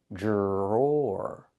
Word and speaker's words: drawer: Then we have the OR sound like more and door. Drawer.